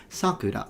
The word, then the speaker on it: sakura: If it's a name of a child, it's sakura, so high to low. But if it's the cherry blossoms, is sakura, the opposite, sakura.